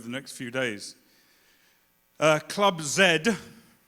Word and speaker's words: Club Z: next few days uh Club Zed thank you thank you for that again for the confirmation of the correct pronunciation of your organization club club Zed is I I I